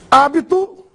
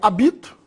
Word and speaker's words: hábito: Hábito, agudo no A, senão eu leria habito, ela é proparoxítona, sílaba tônica é a antepenúltima.